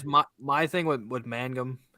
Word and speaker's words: Mangum: guy I guess my my thing with with Mangum I said it right this time I didn't